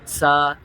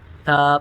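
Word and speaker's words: ث: کی پریکٹس کرنی ہے۔ اس کو سا، سا ایسے نہیں پڑھنا بلکہ تھا پڑھنا ہے۔ اس کے بعد ہے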